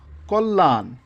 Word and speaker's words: কল্যাণ: নম্বরে যে নিয়মটা আছে আদ্য অ এর পরে যদি খিয় থাকে তবে অ এর উচ্চারণ ও এর মত হবে যেমন বক্ষ হ্যাঁ তাহলে